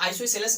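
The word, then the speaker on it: isosceles: तो बेसिकली यहाँ पर क्या, आइसोसेलस भी कभी कभी इसको प्रोनाउंसिएशन किसी कोई टीचर करते हैं, लेकिन मैं आप लोगों को बता दूं कि इसको आइसोस्केलस पढ़िएगा तो चल जाएगा।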